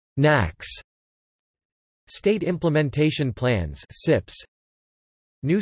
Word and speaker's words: NAAQS: The National Ambient Air Quality Standards NAAQS, pronounced NACS.